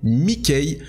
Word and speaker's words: Mikay: Maintenant, c'est Mikey ou Mikey. Vous n'avez plus d'excuses. Maintenant, vous devez de le prononcer correctement.